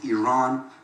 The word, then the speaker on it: Iran: the Iranian people but you're pronouncing our country's name wrong our country is named Iran go to Iran please